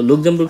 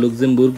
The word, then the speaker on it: Luxemburg: সো লুক্সেমবুর্গ সম্পর্কে একটু তথ্য আপনাদেরকে দেই। আমি বারবার লুক্সেমবুর্গ বলছি, মানে এটা জার্মান উচ্চারণ, সেই ক্ষেত্রে আপনারা হয়তো লুক্সেমবার্গ বলেন, হোয়াট এভার, একটা বললেই হলো, এত ভুল নাই দেশের